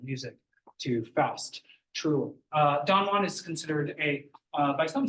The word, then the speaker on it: Don Juan: wrote a poem called Don Juan some people call it Don Jan uh suggesting that was the English pronunciation at the time I still say Don